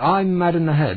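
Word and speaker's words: Ahmadinejad: jacket something like that I'm mad in the head there it is a h m a d mad that's the second syllable mad a h m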